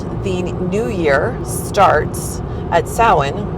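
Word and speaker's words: Samhain: year starts at sin, which is s a m h a i n. Uh, gayord, if I'm not mistaken, which is why those letters and the pronunciation have very little resemblance to each other.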